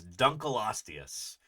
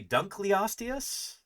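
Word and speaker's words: Dunkleosteus: This is Duncalostius, which I used to say Dunkelostius. That is not how you say it. It's named after a guy called Dunle. Yeah. David Dunl was his name. tall hair. Yeah. The genus Duncalostius is named in his honor.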